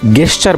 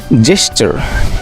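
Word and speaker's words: gesture: Most of the time তোমরা অনেকেই গেস্চার বলে থাকো। সো গেস্চার আসলে অশুদ্ধ উচ্চারণ। সঠিক উচ্চারণটি হচ্ছে জেস্চার, নট গেস্চার।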